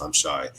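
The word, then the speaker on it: Imchey: Um her her name is I'm Shy. It's pronounced Well, it's pronounced I'm Shai.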